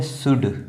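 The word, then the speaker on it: should: ये है शुड। ठीक है? ये शुड है क्योंकि यहां पर यू के बाद एल आया हुआ है। इसलिए एल साइलेंट है यहां पर।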